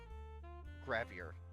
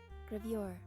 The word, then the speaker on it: gravure: Gravier. How is that pronounced? Gravure.